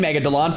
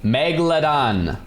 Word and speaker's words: megalodon: I was saying Megalon forever and then everyone's like, "No, it's Megdalon." I was like, "Okay, finally, fine. I'll switch." And then Megalodon. There's no mega. It's not mega. Megalodon.